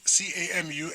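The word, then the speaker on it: Camus: It's actually pronounced C C A M U S. Yeah, it's pronounced Camu.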